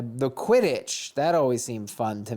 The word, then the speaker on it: Quidditch: they gave the stupid quidditch club the quiddit the people who are pretending to play quidditch like twenty thousand dollars why are you saying it like that how do you say it quidditch whatever i hope you